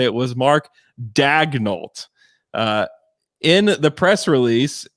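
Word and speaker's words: Daigneault: in the media guide it's mark dagnolt like dagnolt like go and look at uh brett dawson's tweet that's i'm pretty sure that's how you say it so this may be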